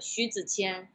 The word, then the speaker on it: Zi Xu: born there so uh my chinese name is uh shih tzu uh but nobody in like the us can pronounce that because in in chinese you have like the tones and stuff um but it doesn't